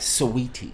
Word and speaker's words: Saweetie: over is cuevo and sweetie okay you gotta pronounce it right sweetie a sweetie right and um a lot of